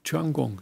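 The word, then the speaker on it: 天宮: Tian is the word for heaven. Yeah, heaven. And in the Korean pronunciation, that is a chun. And palace, of course, is in Korean is kung. So this is a chun kung.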